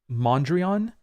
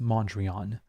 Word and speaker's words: Mondrian: in my video on Mondrian I say mondria because in French we say mondria and so many people